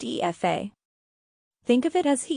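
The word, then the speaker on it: Aoife: we have epha another beautiful Irish name it's pronounced e FAA think of it as he e like an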